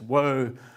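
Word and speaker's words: הוֹי: the tents of kadar that word woe has an extra emphatic sound at the end of it in the original it's whoa how's life on the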